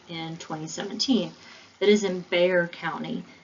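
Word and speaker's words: Bexar: 2017 that is in bear county when you say that bear like b-e-a-r the x is silent so sometimes you'll hear non-texans say baxter county but that's not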